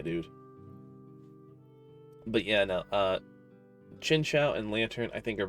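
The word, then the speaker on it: Chingling: lot chinchu chincha chinchu no it's literally pronounced chincha oh oh like that's its actual official pronunciation that is dumb like in the anime in any in like Pokedex 3D it's always chincha huh where have I been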